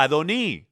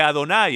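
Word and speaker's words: אֲדֹנִי: yahua claramente muestra que el segundo señor se pronuncia adoni en vez de Adonai entonces aquellos que debaten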